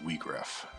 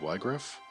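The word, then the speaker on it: Wiegraf: up his name okay so it is we graph i think i had always said y griff but we graph actually makes sense it's w-i-e so that makes sense for german spelling and then the japanese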